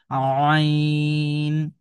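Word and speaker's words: عين: তো এই কন্ঠনালীর মাঝামাঝি জায়গা থেকে একটু চেপে পড়তে হবে এই হরফটাকে। আমরা যদি উচ্চারণ করি হরফটা কিভাবে পড়বো? আইন এইযে একটু চাপ দিচ্ছি। আইন আপনি আমার সাথে বলার চেষ্টা করুন।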